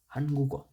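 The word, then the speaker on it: 한국: উচ্চারণের ক্ষেত্রে উচ্চারণটা হবে এরকম, হান গু গ, হানগুগ। হানগুগ উচ্চারণ হবে এরকম, কিন্তু এটা লেখার ক্ষেত্রে এটা এরকম হবে।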